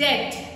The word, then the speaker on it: debt: I hope everyone is familiar with the word डेट. DEBT. B is silent.